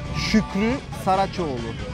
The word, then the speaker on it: Şükrü Saraçoğlu: Alors, Şükrü Saraçoğlu. Mais ça Şükrü s'écrit, Saraçoğlu.